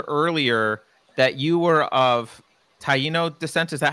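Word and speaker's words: Taíno: and I mentioned earlier that you were of Taino the senses that how I pronounce did I pronounce it wrong or yes that's that's right okay taiino uh that is the it was that the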